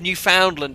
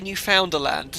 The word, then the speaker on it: Newfoundland: A pronunciation of Newfoundland. Did I say Newfoundland? Yeah, founder a type of fish. Oops. Newfoundland.